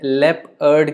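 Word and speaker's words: leopard: हैं लेपर्ड के साथ, बिकॉज लेपर्ड को भी आप लेप अर्ड की तरह प्रोनाउंस करते हैं.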